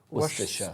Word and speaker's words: Worcestershire: Worcestershire. Worcestershire. It's 3 syllables. You put in an extra syllable.